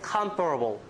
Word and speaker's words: comparable: It's compare, but here, since stress is on the first syllable, it becomes, oh, okay, comparable.